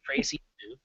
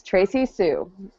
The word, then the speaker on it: Tracee Sioux: What I was saying at the end of the episode, it's Tracy Sue. How I missed that. I don't know. It's Tracy Sue.